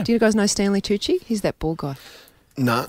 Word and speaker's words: Tucci: Oh, Tucci. Yeah, Tucci.